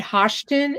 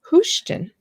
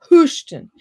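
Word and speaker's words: Hoschton: place what's the name of the town houston spell it i was calling it hoshton and they said don't say that in front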